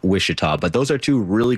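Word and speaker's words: Ouachita: you look at it, it begins with the letter O, and somehow you pronounce it Wishita.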